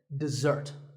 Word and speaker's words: dessert: word this is dessert notice that the first syllable is dip and the second starts with a Z sound we stress the second syllable dessert this word refers to something